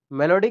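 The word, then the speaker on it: malady: अब इसको हम क्या करें, स्पेलिंग के चलते मेलोडी नहीं याद रखते, मालादी, क्या रखते हैं, मालाडी, तब ना याद रहेगा, माला माला डी, है ना।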